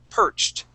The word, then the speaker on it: perched: a gray hard hat perched. Okay, so we're going to use a T ending here on perched.